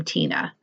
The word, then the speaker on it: Tinne: Her name on her channel is spelled Tinne. She's in Belgium, but she pronounces her name Tina.